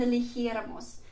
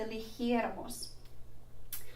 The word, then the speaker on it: eligiéramos: And you can see that I've highlighted the third to last syllable because it has an accent above it. And so in the nosotros, nosotras form, we need to add that accent over the third last syllable to make the pronunciation correct.